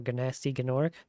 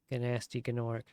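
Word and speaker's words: Gnasty Gnorc: and an orc and when you do that then you have to pronounce the G. Gnasty Gorc.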